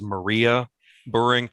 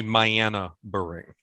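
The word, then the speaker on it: Mayanna Buring: to saya devri i i referred to her as maria burring it's actually my anna bearing so i i mispronounced her name so i'm sure i'm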